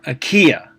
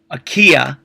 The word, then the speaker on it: Achaea: Think about Achaea, and it's 3 syllables.